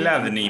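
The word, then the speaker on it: Chladni: llama la placa de Cladley. Ahí está, como se escribe. Cladney para mí es, o sea, la, el CH hay que resignarla.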